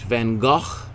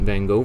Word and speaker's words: van Gogh: we're gonna go right down here to vincent van gaal as it's correctly pronounced but we'll call him vincent van gogh for uh it's probably more most commonly known